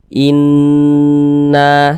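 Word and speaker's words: إنَّ: itu karena dia gunah cara membacanya itu digunahkan digunakan tuh ya didengungkan jadi suaranya itu kita tahan kita panjangkan sebentar Inna seperti itu innaah begitu Inna ilaikum In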